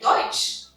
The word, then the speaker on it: Deutsch: And the vowels EU together create a OI sound. So it becomes oi, foi, and moi. Like Deutsch.